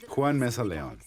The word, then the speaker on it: Juan Meza-Leon: the soothing dulcet tones Of Juan Leon Mesa. Did I say it right? Nope, you got to No, switch. you did not. No. All right, you say it. Juan Meza-Leon. Oh, shit, I switched them around.